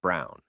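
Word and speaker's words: Braun: of the historical figure Eva Brown pronounced Brown wife of probably one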